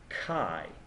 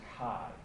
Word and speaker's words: chi: here and it's pronounced Kai usually people write Chi but it's pronounced Kai and Kai squared is